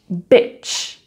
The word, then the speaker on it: bitch: Donc tu as beach, beach, bitch, bitch. Donc tu vois en fait, ce que j'aime dire, c'est que quand tu prononces le mot plage, donc beach, donc tu vois, je souris même sans le vouloir.